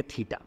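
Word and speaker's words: theta: कहते हैं इसे प्रोनाउंस देखो इसे टी एच ई टी ए थीटा कहेंगे ठीक है और थीटा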